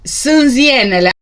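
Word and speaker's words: Sânziene: here is another one sansianele so the way you pronounce this is sunziene the magical fairies this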